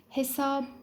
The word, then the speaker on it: hesap: Hayat şeklinde telaffuz ederiz hesap yine Arapçada o şekildedir biz onu Hesap olarak kısaltırız ünsüzlerle ilgili ses olaylarına